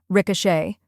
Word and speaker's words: ricochet: the a in sofa finally we have Shay which rhymes with day now let's put it all together R Shay try repeating after me Ricochet now a little faster